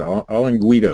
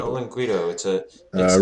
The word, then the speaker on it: olinguito: How do you pronounce that? Olinguito. Olinguito.